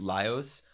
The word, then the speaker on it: Laios: Laos or Laios? Laios. Like lie.